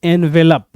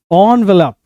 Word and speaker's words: envelope: हम इसको बोलते हैं एनवेलप, बट इट्स नॉट एनवेलप. The correct pronunciation is ऑनवेलप. इसको हम ओ से शुरू करते हैं. ऑनवेलप. इनवेलप नहीं, ऑनवेलप.